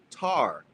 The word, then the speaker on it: Ptah: Ta, Ptah, is rightly pronounced Tar.